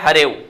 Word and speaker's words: हरेव: तो इसका भी जो अर्थ जो उच्चारण होगा हरेव होगा, और इसका भी उच्चारण है वो यही है हरेव।